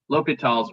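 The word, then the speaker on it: L'Hôpital: That easier way is called L'Hopital's rule. Okay. Sometimes it's spelled with an S in there, so it looks like Hospital's rule, and you might see me spell it that way too, just so you're aware.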